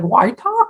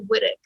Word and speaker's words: Whytock: it's scottish right and if you go to scotland people will be like um they know right away how to pronounce it here everybody's like why talk white yeah i know